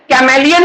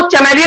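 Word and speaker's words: chameleon: कैमेलियन को चैमेलियन भी बोल दोगे, कोई गलती नहीं है, माना ही नहीं जाएगा गलती। प्रोनाउंसिएशन चल सकता है।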